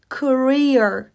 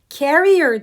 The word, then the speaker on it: career: sonra tekrar et career career Ok bu kariyer anlamına gelir carer diye okursan Taşıyıcı olarak düşünürsün benim taşıyıc demiş olursun